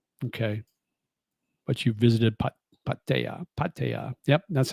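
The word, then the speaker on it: Pattaya: Patea. Yep. That's how I pronounce it.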